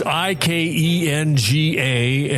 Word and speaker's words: Ikenga: It's I K E N G A and you pronounce it how?